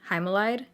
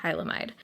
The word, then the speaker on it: Hylamide: I've been saying Hymalide. It's definitely Hylamide.